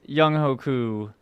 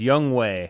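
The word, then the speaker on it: Younghoe Koo: They release Young Hoku. You gotta say his name right one time. He's not even in the league anymore. It's Young Wei.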